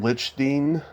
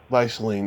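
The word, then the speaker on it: Leichtling: By the way, how do you pronounce Jerry's last name? Lichstein? Leishling.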